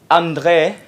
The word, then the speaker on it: André: And I have right beside me André. Is it the right pronunciation, André? It was pretty good. Yeah, that's really good.